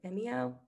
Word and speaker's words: Vimeo: You can embed either YouTube or is it Vimeo?